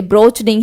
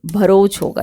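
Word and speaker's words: Broach: है ये ठीक है स्पेलिंग थोड़ा सा ब्रोच होगा ये ब्रोच नहीं है भरोस होगा ये थोड़ा सा इस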